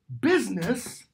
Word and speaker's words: busyness: but we do use the word that Chaucer uses busyness we pronounce it business because we've taken the